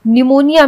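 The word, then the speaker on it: pneumonia: निमोनिया में P silent होता है। निमोनिया अधिकतर लोग सोचते हैं कि निमोनिया एन से होता है। एन ई यू एम ओ एन आई ए निमोनिया होता है। लेकिन निमोनिया पी से स्टार्ट होता है।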